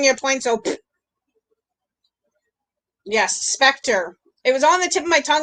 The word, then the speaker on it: Spectre: It sounds like the word factor. It rhymes with the word factor. Emily, don't even take that out of context, my girl. Spectre, Steve gets a point.